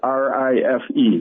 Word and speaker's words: Rife: That's spelled R-I-F-E, Rife.